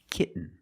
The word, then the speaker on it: kitten: When you have ten, t o n or t a i n at the end of the word and the syllable is not stressed, the t makes a different sound. We have to make a stop t and link it to the n.